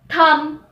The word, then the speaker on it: thumb: Now for the rule when the letter B is not pronounced when it comes after an M. For example, comb, womb, tomb, plumber, thumb, dumb.